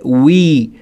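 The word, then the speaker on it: we: جمع اول شخص میشه وی تلفظ بلیو رو هم دقت بکنید زمانی که میخواید بلیو رو تلفظ کنید لب‌هاتون باید حالت بوسه لوله‌ای باشه هوا میاد بیرون میگیم وی میشه ما هی میشه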